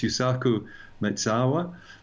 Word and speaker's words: Yusaku Maezawa: So this Japanese billionaire, you and I have spoken about him before, and I'm sure I've mispronounced his name before. I think it's Yusaku Maezawa.